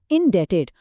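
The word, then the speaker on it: indebted: Date बन जाता है इनडेटेड, और बी अभी भी साइलेंट है, इनडेटेड।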